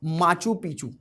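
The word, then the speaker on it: Machu Picchu: Next location का context ये है कि Peru protest stands hundreds of tourist near माचू पिचू। ठीक है, उसे मचू पिचू कहेंगे, मचू पिचू पढ़ेंगे। ठीक है, प्रोनाउंसिएशन डिफर कर सकता है।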